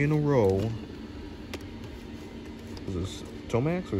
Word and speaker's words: Tomax: Is this Tomax or Zamax? Tomax.